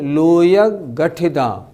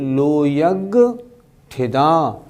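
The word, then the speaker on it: लोयग्गठिदा: कुछ लोग कैसे बोलते हैं? लोयग गठिदा। नहीं, वो उच्चारण ठीक नहीं। लोयग गठिदा नहीं, लोयग ठिदा, लोकाग्र स्थिता, लोक के अग्रभाग में स्थित हैं।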